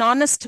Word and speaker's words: honest: vowel sound H an honest man we say an honest man a we don't usually pronounce this ha hot H horrible